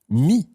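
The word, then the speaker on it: mis: participle of meter is me me and that's spelled m-i-s me okay and of course the S is silent I have put me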